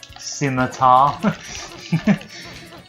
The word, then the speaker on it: scimitar: I'm just stabbing an old man with a scimitar. Yes, that's how it's pronounced.